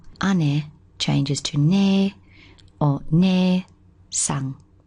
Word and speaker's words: 姉: It's pronounced ane.